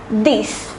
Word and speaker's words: dix: And the number 10 is pronounced as dix.